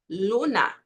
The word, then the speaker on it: luna: Primero, hay que tener en cuenta, se precisa considerar, que a letra L não faz som de U em espanhol. Tendo isso, veja só, você vai manter sempre a mesma pronúncia. Se você fala luna, luna, fica assim de